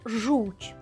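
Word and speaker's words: chrząszcz: ч ч і і маємо слово жуч воно дійсно звучить по-польськи так шиплячо твердо дещо в кінці вже м'ягко так тобто маємо оцю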